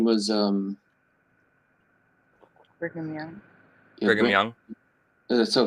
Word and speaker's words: Brigham: Brigham Young.